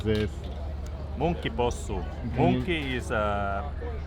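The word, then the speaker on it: munkkipossu: So Marty will explain you now how you really pronounce this. Monkey possu.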